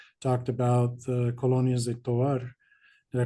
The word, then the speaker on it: Tovar: perspectivas, like we talked about the colonias de Tovar. Did I pronounce it right? Yeah, Tovar.